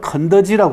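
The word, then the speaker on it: 肯德基: 닭을 주로 파는 데인데 닭을 집어넣지 않고 저를 글자를 집어넣는데 가만히 보시면 긍덕기는 중국말로는 건더지라고 합니다. 건더지. 켄터키하고 비슷하죠. 그죠?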